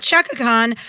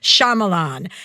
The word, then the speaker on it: Shyamalan: You guys, everyone go out and get Remain, the novel by Nicholas Sparks with Might, not Shakhan, Shyamalan.